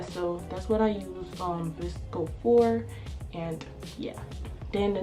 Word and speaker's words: VSCO: Then the next app I have is called VSCO, as in Visco. I'm not sure if that's how you pronounce it or you actually say VSCO.